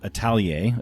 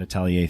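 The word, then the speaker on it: atelier: So u my therapy practice is called Italier.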